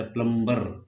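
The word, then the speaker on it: plumber: असी बोलते कूरीयर, जिदा प्लंबर, असी प्लंबर कहते ना, प्लंबर, वो प्लंबर नहीं कहणगे। तुसीं जाके देखो कभी गोरियां दे नाल तुहाडा संपर्क होवे या किते तुसीं कोई डिक्शनरी विच या जिथे प्रोनाउंसिएशन दित्ती है, वो कहणे प्लंबा, प्लंबा, ते प्लंबा मतलब कि वो रारा नहीं बोलते।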